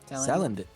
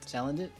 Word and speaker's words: Salandit: Salandit. Salandit. I have trouble with pronouncing it just because like I want to say sand, like I want to put sand in there because it's like a salamander, but like I don't know why.